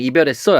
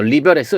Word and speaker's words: 이별: 그래서 얘는 이렇게 바뀐 거고 또 하나 뭐가 있을까 보면은 너 남자친구랑 이별했어 했을 때 얘는 원래 리별이라고 발음해야 돼요. 근데 우리 발음 그렇게 안 하잖아. 야, 너 리별했어 이렇게 얘기를 안 하잖아요.